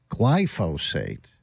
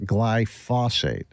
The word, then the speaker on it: glyphosate: this person is saying glyphosate not glyos glyphosate what whatever I I